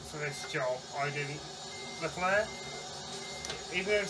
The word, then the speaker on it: Leclerc: Leclerc, even though it says electric, it's not, it's Leclerc, which is the E in it is silent when it's turned around.